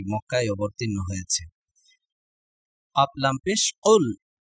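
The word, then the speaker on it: قُلْ: অবতীর্ণ হয়েছে কাফলাম পেশ কুল এই কাফটি গলার ভিতর থেকে উচ্চারণ হবে এবং একটু ধাক্কা দিয়ে উচ্চারণ করতে হবে তাহলে উচ্চারণ কিভাবে হবে কুল কাফ লামে পেশ উল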